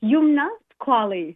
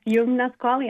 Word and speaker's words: Youmna Squalli: So, I want to make sure we get the pronunciation correct. I love it. It's Yumnasquali. Yum. Yes, Yumnasquali.